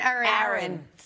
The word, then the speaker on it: Erin: Some people pronounce with distinct as in cat and with a very clear e as in bed. But many Americans claim that these two names are pronounced the same way.